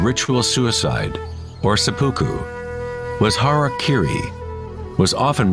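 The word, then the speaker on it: hara-kiri: one form of ritual suicide or seppuku was Hara Kiri was often mispronounced as Harry kry it means to impale one's Hara thereby cutting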